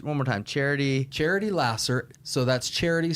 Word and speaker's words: Laser: more time charity charity Lasser so that's charity spelled like uh the pure love of Jesus pure love Jesus Lasser l a s e r okay spelled like laser pronounced Lasser okay um look truly